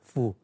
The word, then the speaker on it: Foo: My last name is pronounced as Fu.